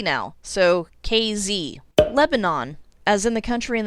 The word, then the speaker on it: Lebanon: z now so kz lebanon as in the country in the middle east or at least it should be they pronounce this with the emphasis on the first syllable so it's lebanon do you remember the